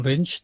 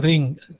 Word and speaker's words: range: tidak paham bahasa Inggris, kadang-kadang istilah ini dibacanya bukan range tapi ring, ring gitu ya, ring. Jadi ya nggak apa-apa lah karena mereka nggak ngerti bahasa Inggris. Tapi yang benar membacanya range. Kalian jangan ikut-ikutkan mereka ya. Jadi ini membacanya yang betul range.